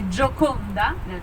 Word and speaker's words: Gioconda: So, the Americans say Mona Lisa, and in French say Gioconda. Sorry, the Italians say Gioconda, and La Gioconde in French, because the name of the husband of the woman was Giocondo.